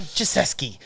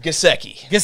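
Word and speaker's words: Mike Gesicki: get my boy mike joseski i said his name wrong it doesn't matter gaseki yes that's right i promise i know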